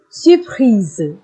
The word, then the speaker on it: surpris: Elle est surprise, which means she is surprised. So you can see the difference in the pronunciation as well. Il est surpris. Elle est surprise.